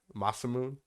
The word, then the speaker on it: Masamune: in particular they had uh sephiroth uh masamune masamune that's how you say it but yeah there